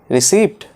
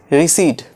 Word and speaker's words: receipt: Receipt? No, not receipt. It is receipt. Receipt. P in this word is silent.